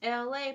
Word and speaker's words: Elay: This is LA, pronounced like LA like the city.